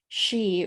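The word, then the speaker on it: sìth: says kate c-a-i-t that means cat and then she or s-i-t-h which is their term for fairies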